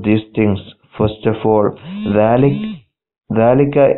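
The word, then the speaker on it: ذلك: First of all, dhalika is pronounced dhalika, but it is written without the alif.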